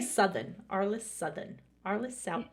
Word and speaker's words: Southern: I always want to say Southern, Arliss Southern. Arliss South. It's Southern though, right? So my grandparents are from England, and the pronunciation is Southern.